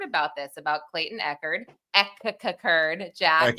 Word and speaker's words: Echard: Echard, Jack. Echard. The pronunciation.